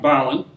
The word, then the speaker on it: Berlin: would have been pronounced Balon and definitely the second syllable was not accented.